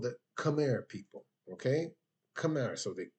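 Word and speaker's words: Khmer: The people that built it, they are called the Camar people. Okay. Camar. So they they spell it K h empire.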